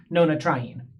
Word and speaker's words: nonatriene: When putting this molecule together, if the numbers weren't here, we would have an N next to a T. And phonetically, you can't really say an N sound next to a T sound. N tryin. It wouldn't make any sense. So, we add the A as a buffer syllable in order to allow the molecule to roll off the tongue a little bit more easier.